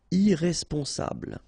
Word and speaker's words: irresponsable: Don't pronounce the final E. Bl, bl will be the last sound. Sable. Irresponsable.